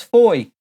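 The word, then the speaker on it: Fowey: always thought was actually called Bowie but it's Foy know I heard Gordon Ramsay's moving down to foyer betty pronounces it are we done e you can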